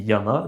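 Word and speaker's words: やま: Par exemple, montagne en japonais se dit Yama. Donc le kunyomi de ce même caractère, c'est Yama.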